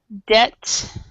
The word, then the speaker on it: debt: So in English, a word that has a P or a B before a T is silent.